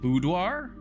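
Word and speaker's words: boudoir: Is it budoir? Bodoir. Okay. Yeah. Lost and found. Pet the doggo. Lucky your rabbit's foot. That's fine. First one you just said. So it is bu.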